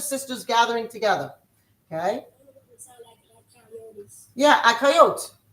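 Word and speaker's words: אחיות: Is akayot. A-C-H-A-Y-O-T. When it's just sisters, just a bunch of sisters gathering together. Okay. Yeah, akayot.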